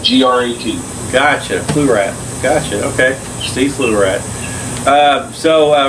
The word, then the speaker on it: Pflugradt: Flew like your shit, Grat, like G-R-A-T, Pflugradt. What again? Sorry. How you say? It's flew like your shit, okay, and then Grat, like G-R-A-T. Gotcha, Pflugradt.